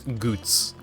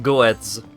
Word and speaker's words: Goetz: They do indeed pronounce his name as Goots. Not Goetz. It's Goots.